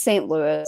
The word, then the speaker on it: St. Louis: then it's time for st. Louis no Louis but it's a Louie Oh Louis and st. Louis okay just because the non American pronunciation of that would is Louie well if it was like someone well it's like louis xiv but if it's spelled that way it's usually Louie but it's st. Louis that's the city yeah